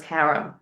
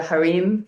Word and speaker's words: harem: conversations revolved around this harem. And I know, like in other countries, they call it the harem, but here in America, he called it harem. That's why I pronounce it that way.